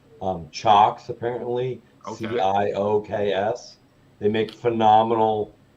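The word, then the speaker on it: CIOKS: um it looks like it's seahawks but it's pronounced um chocks apparently c-i-o-k-s they make phenomenal power supplies even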